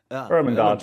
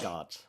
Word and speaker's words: Ermengarde: bothering me all this time because I cannot pronounce it correctly. the uh, last name you mean? Yeah, sweet. Ermengarde. Ermengarde. Yeah, Wait, say it one more time. Last? Jacques. uh, Okay, Ermengarde. Ermengarde.